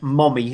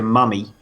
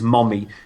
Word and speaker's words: Mommy: It is actually pronounced Mommy. It's the American way of actually spelling it, even though we would say Mummy, but it is Mommy.